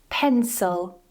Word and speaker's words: pencil: The next is the letter "i", and we have "pencil", "pencil". So, that weak syllable "pen", "eh", strong vowel, "suhl", "suhl" - because it's very weak because, it's not stressed, we're using schwa.